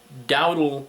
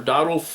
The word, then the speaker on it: Dowdle: And Dave happens to own, I believe it's pronounced Dowdle Puzzles, or Dowdle, it's called Dowdle Fork Art.